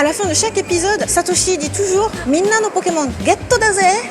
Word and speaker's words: Satoshi: prononcer le japonais donc Sacha c'est Satoshi et c'est très facile c'est juste satosi Satoshi mais plus dur Pikachu en